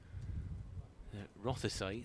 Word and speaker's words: Rothesay: Rothesay, the county championship Is that how sponsors. you pronounce it?